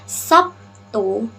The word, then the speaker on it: Sabtu: diucapkan B baru sedangkan fonem B di dalam kata Sabtu diucapkan dengan kata P beda ya walaupun itu B dibaca p morfologi morfologi adalah cabang